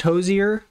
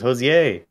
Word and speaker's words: Hozier: in the bedroom it's it's pronounced Hozier really I thought it was Jose I'm not gonna pronounce